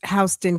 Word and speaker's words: Houston: Hston spelled like Houston. Hston.